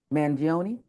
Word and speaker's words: Mangione: About Luigi Mangione, I butchered it, but you know how to say Oh, it you better got than it.